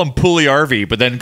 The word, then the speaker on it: Puljujärvi: It's a soft J. Yeah. Yes. Yes. Of course. See? Now, there's no hard J's. You need this. Well, we'll call him Puljujärvi, but then call him Jesse.